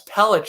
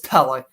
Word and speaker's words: Pelech: There's no sh, it's a k. So I was actually right. I'm shocked. I always call him Alan Pellick until a couple people told me recently, no, it's Pellich. I'm like, I think it's Pellick, but I'm probably wrong because obviously I mispronounce names kind of, sort of often. So it's Pellick.